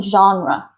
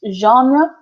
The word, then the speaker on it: genre: talking about is film genre which can be pronounced genre like French or genre Jeff John raah like the like they do in America hi I'm from